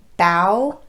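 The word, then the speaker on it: bough: more commonly used slu in the words bow and drought we use an ow pronunciation and for cough and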